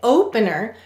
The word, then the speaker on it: opener: the suffix is stressed when you say opener you'll notice your mouth opens larger for this syllable so this is the stressed syllable so we will not